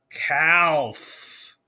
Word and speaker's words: calf: doesn't make any sense i am guessing that that l right there is cl kind of like a silent l he's like a little ninja l hiding in there and i want to go cat and go right to the f and say caf not calf but there we go